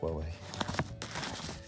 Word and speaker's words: Huawei: Yes, it is pronounced Huawei.